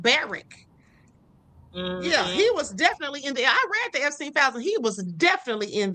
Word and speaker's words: Barak: Barrack, not Barack. It's like Barrack.